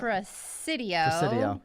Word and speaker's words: Presidio: Well, I think it's Presidio. Presidio? There's an S-I-D-I-O. Sam, do we have confirmation on that? Presidio.